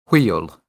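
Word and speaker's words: hwyl: honest well here's a good word by wheel uh but it's spelled h-w-y-l IO HW is that wheel oil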